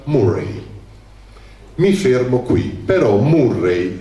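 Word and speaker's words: Moray: Che in Scozia la contea più grande si chiamava Morai, uguale come in Perù, però si pronuncia Murray.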